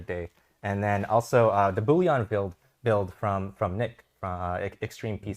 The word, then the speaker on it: Bullion: So how would you pronounce it? Bullion? Just Bullion.